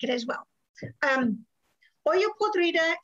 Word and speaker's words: olla podrida: it as well um oyo podrita is the proper spanish pronunciation of the name of this dish however sometimes i will probably slip because english is my first language and say hola podrida oyo podrida was a